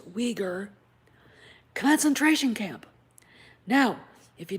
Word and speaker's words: Uyghur: And apparently the movie was filmed next door to a Uyghur, it is pronounced Uyghur, concentration camp.